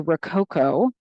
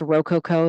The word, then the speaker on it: Rococo: The era that comes after that is known as the Rococo. It can also be pronounced Rococo. There's not one correct way to say that.